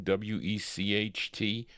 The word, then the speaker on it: Wecht: W-E-C-H-T, Wecht. Where is Reed? Okay, he helps me with these pronunciations.